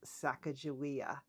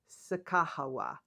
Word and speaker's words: Sacagawea: And I learned during that trip, along with some of the things that I researched before we went on the trip, that this name is probably pronounced Sacagawea.